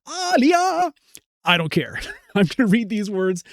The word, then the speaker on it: Alia: And it's not Sky Tale, it's Skittle, and it's not Alia, it's Aliah.